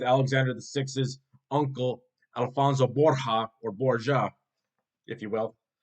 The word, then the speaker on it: Borja: Now, the actual pronunciation of the Borgia family name in Spanish is Borja, Borja. Borja. The J is silent.